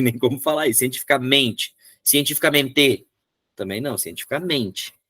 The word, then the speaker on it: cientificamente: Cientificamente, também não, cientificamente. É uma paroxítona. É uma paroxítona natural, não leva acento nenhum. Passou da terceira sílaba de trás para frente, é impossível ter acento.